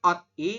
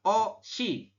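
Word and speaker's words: 옷이: air kan berarti OD Harusnya kan OD I tapi dibacanya adalah o si o si Kenapa karena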